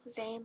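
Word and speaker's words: Zayn: Niall like Mile, Zane like Rain, Harry like Darren, Chris, Chess, Louis, the S is silent, Louis, Liam, duh.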